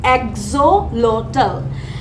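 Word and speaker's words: axolotl: এটার প্রোনাউন্সিয়েশনটা হচ্ছে অ্যাক্সোলোটল।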